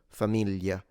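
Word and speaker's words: famiglia: the way they render the GL sound. In standard it's a it can be difficult familia folia that's standard and it's commonly natively spoken like this in center north. So like Tuscanany Rome that's how they say it. If you go south like this speaker and me natively, we simplify it into a Y. So it becomes Y mo. It's like a Y.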